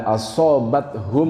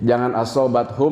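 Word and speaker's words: أصابتهم: Nah, di sana kan asobathum, mim ketemu mim. Kalau dalam waktu saya ngaji disebutnya idgham mimi ya. Mim ketemu mim. Asobathum, sehingga bacanya agak berdengung. Alladzina idza asobathum musibah. Nah, jadi jangan asobathum musibah, ada dengung sedikit karena mimnya juga ada tasjid.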